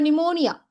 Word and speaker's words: pneumonia: அப்போ நிமோனியா. நீங்கள் வந்து இன்னும் யூ நிமோனியான்னு சொன்னாலும் சரி, நிமோனியான்னு சொன்னாலும் சரி. ஏன்னா பிரிட்டிஷ் இங்கிலீஷில் நியூ அப்படி ப்ரொனவுன்ஸ் பண்ணுவாங்க, அமெரிக்கன் இங்கிலீஷில் நூ அப்படின்னே ப்ரொனவுன்ஸ் பண்ணுவாங்க. நிமோனியா அப்படி சொல்லுவாங்க. ஸோ நீங்கள் எப்படி வேணால் சொல்லுங்கள்.